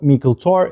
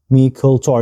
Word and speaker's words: Meikle Toir: it's peted Glen alak they call it mikl tor it's uh mult Tor yeah I'm pronouncing it correctly it means big persit